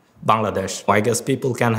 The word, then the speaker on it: Bangladesh: The only possible explanation I have is the way I said Bangladesh. Because that's how people outside of my country or South Asia pronounce it, but people from South Asia pronounce it as Bangladesh. Bangladesh.